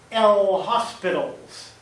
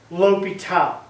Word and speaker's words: L'Hôpital: English speaker, to be L. Hospital's rule. That is not the case at all. This guy is French, and his name is pronounced L'Hôpital. Here we have our L'Hôpital.